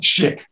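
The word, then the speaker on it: Szyk: Yeah, it's pronounced Schick.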